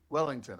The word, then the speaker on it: Welington: It's spelled Welington, like with t h o n, but pronounced like the beef Wellington. Wellington, okay.